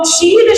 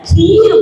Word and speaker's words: क्षीर: क्ष वर्ण बनता है। क और मूर्धन्य श मिला के। जब उच्चारण दोष हुआ तो जब क्षर नहीं बोल पाए तो क्षीर को बिगाड़ कर के क्या बोलने लग गए? खीर बोलने लगे कि वो तो खीर